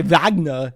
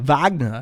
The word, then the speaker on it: Wagner: important it's important that when you say vagna you say it like Arnold Schwarzenegger Wagner because otherwise Ralph will